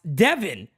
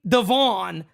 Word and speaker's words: Devin: told you this but my name is pronounced Devin are you kidding me the whole freaking time just let you call me Devon this whole time okay Devin now I